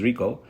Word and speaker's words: Rico Malvar: welcome nhik hio malar that's the Brazilian Portuguese pronunciation also known as Rico to the Immigrant computer scientists podcast Rico malar